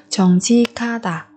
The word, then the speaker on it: 정직하다: Chính trực 정직하다, 정직하다, 정직하다. Ở đây 직 và 하 chúng ta cũng biến âm đọc thành 지카, 정직하다, 정직하다.